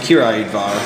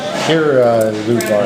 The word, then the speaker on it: Királyudvar: And it's pronounced Királyudvar, and it means King's Court. So Királyudvar. the L is silent.